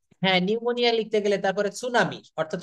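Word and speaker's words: pneumonia: এম ও অর্থাৎ নিউ এখানে পি কিন্তু উচ্চারিত হবে না নিউ হ্যাঁ নিউমোনিয়া লিখতে গেলে তারপরে সুনামি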